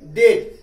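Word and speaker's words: debt: इसको डेट नहीं पढ़ेंगे, डेट. क्या पढ़ेंगे? डेट. डेट डीई बी टी, इसको पढ़ेंगे डेट.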